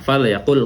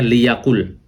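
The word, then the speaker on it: فليقل: Biasanya lamul amri wa doa itu biasanya diharakatkan kasrah, ya. Jadi kita bacanya liyakul, ya. Kalau tanpa fa dibacanya liyakul khairan au liyasmut. Nah, di sini ada liyasmut, ya. Liyakul au liyasmut, ya. Tetapi fa itu ketika lamul amri itu ketika dimasuki huruf ataf seperti fa, seperti thumma, maka dia boleh disukunkan. Makanya bacanya fal yakul atau thummal yakul, ya, di sini.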